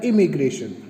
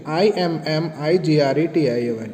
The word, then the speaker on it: immigration: पहला है एमिग्रेशन और दूसरा है इमिग्रेशन. ठीक है, ध्यान देने वाली बात है ये दोनों का प्रोनाउंसिएशन ऑलमोस्ट सेम है, इसलिए इसको आपको खास तौर से स्पेल आउट जो है वो ढंग से करना पड़ेगा.